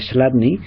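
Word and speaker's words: Chladni: deletreo para los que estéis escuchando MP3 slat se escribe c HL a dni c HL adni slat era un físico del principios del 19 que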